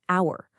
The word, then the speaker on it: hour: In hour, the word starts with H, but the H is totally silent.